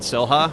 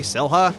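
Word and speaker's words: Xel-Há: went to Cancun, Mexico, there's this place called Selja, which is like, it's kind of like big lagoon Spell it slash for us. park area. It's like XEL-HA, Selja.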